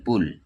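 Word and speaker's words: pull: যেমন পি ইউটি পুট, এফ U double L ফুল, পি U double L পুল।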